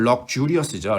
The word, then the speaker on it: luxurious: 그래서 명사는 share 이렇게 발음하고 형용사 사치스러움은 luxurious죠. luxurious. luxurious. 이 즈 발음이 나오죠. 즈 발음. luxurious.